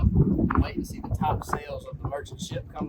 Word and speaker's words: Topsail: in and started saying Topsail. So you know if somebody's local if they say Topsail, not Topsail. Topsail's what the tourists call it.